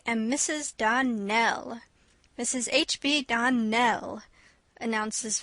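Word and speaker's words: Donnell: Clarice Elmyra told me that you pronounced our name Donald. Now, Miss Shirley, the correct pronunciation of our name is Darnell. Accent on the last syllable.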